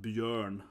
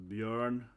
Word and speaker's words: Björn: But I mean, this is pronounced Björn, again, at Ö, it's kind of an Ö sound, so Björn, other than that can